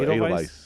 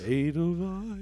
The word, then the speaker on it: Edelweiss: Is it Edelweiss? No, Edelweiss. Edelweiss. You need to watch Sound of Music if you don't know how to. Edelweiss. Well, I'm Edelweiss. singing the song. I've seen it. Edelweiss was the last song